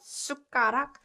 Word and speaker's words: 숟가락: So 숟가락, 숟가락 is pronounced 숟가락, 숟가락, and it means a spoon, spoon.